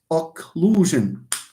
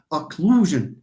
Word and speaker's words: occlusion: Occlusion. إلا لاحظتوا معايا stress على لو. Occlusion. So again, it falls on this, syllable.